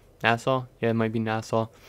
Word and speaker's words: Nassau: Okay, so we're headed back to the Nassau Coliseum. I think it's pronounced Nassau. Nassau?